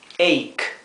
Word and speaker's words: ache: Bien, aquí cuando tenemos una CH entre una A y una E, la CH se pronuncia como una K, ache, ache.